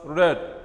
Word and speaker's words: read: we are writing but when we are pronouncing we pronounce us red like the color red he read the book